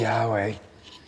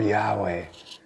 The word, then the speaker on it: Yahweh: hey why why HWH there is argument about how that's pronounced I prefer Yahweh there's many variations nonetheless